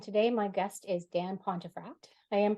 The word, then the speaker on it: Pontefract: of excellence and today my guest is Dan pontefract I am pronouncing that correctly right yes you got it